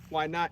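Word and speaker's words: YNOTT: of the waianae foundation why not it's spelt y-n-o-t-t and it's acronym for youth needing organ tissue transplants my great friend hey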